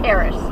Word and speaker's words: Paris: you could mispronounce it unless you're in France and SA koree cuz in in in France they say per right I don't know